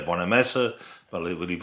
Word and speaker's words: Bonamassa: I always used to say Bonamassa, but I believe it's Bonamassa.